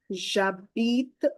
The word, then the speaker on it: j'habite: We don't pronounce H, but we have to give the liaison to A. So it will become ja sound. And because of the E, silent E, we need to read till T.